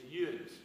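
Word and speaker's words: you'uns: now, it was cloudy, but it's not urine, it's UNs. And how do y'all spell it? How y'all spell UNs? UNS. UNS. So if you're ever up in this area and you want to speak the native language, it's yuns.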